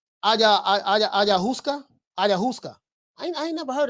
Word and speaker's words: ayahuasca: You say it's pronounced ayahuasca.